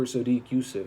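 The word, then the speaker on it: Sodiq Yusuff: Mobley Benitez versus Sadiq super Yusuf her super Sadiq Yousuf that's how you say it yeah Gabriel Bonita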